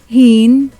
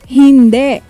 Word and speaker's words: hindi: Pronounce it as hind. Say hind.